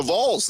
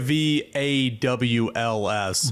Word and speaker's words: Vols: Yeah, it's Vols. You're saying it VAWLS.